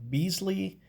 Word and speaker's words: Bisley: busily of old and i've also heard it pronounced beasley i don't know which one is more correct but i i pronounce it bisley anyway this has to